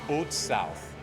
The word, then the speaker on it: Haute South: to pronounce the name so it's pronounced o South whatever you call it